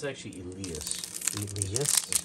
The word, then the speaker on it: Elias: Elias? No, it's actually Elias. Elias? That's how they pronounce it.